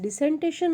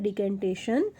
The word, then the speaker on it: decantation: डिकेंटेशन, यू can also pronounce it एज डिसेंटेशन और डिकेंटेशन.